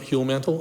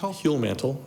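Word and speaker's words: Huellmantel: pronounced that for me i pronounce it heal mantle almost no one else does human heal mantle mantle h-u-e-l-l-m-a-n-t-e-l and i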